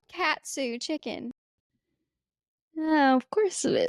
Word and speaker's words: katsu: You said cat zoo. It's called katsu chicken.